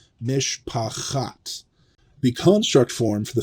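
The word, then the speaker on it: מִשְׁפַּחַת: Mishpacht is not a word that we've learned, but it's very close, and it should sound very close to mishpachat.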